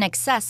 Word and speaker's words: excess: 第二部分，我们看到名词 excess 指过量、过多。例如 There is an excess of glue on the paper, so you should wipe some of it off.